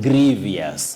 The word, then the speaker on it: grievous: who also asked me why people talk of mischievous and Grievous yes which in fact are not there in the English vocabulary we say Grievous Grievous and mischievous mischievous not mischievous not Grievous we should avoid that so Talia mangi I